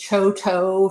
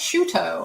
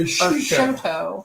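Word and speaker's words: Chouteau: Shuto is spelled Choteau. I thought it was Choto for the longest time, but no. And then I was told it's Shuto or Shoto.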